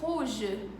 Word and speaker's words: rouge: Mas em francês o R tem um som bem aqui, bem no fundo da garganta, como em rouge, ou como em noir, ou como em parler.